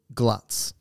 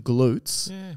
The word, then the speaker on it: GLUT: gluts all glucose Transporters you call them glutes which makes sense because it's glucose transporter but I like it's not how it's pronounced no they're glut and I like glut because it sounds like gluttony which sort of makes